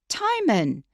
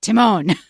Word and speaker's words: Timon: one on YouTube and they said tyman tyman and I thought okay well I've checked and then Chris just said Timon I had I had